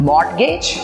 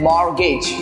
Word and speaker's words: mortgage: मॉर्टगेज? नो, इसका सही pronunciation है मॉर्गेज.